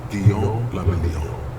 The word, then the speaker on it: Guillaume Le Million: Guillaume la Million. If it doesn't rhyme, you're not pronouncing it right.